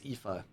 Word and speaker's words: Aoife: Uh, I forgot how to say her name, but it's like Effie. Aoife. No, it's Aoife.